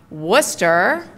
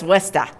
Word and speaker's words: Worcester: say it with me it's pronounced Worcester what's that if you're local if you're a good local it's lista that's right that's right and so